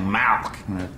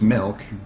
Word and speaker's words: milk: want some milk now you're saying it wrong you're saying malk like it's a disease how do you say it i'm saying it the way everyone ought to say it milk m-i-l-k right like two percent right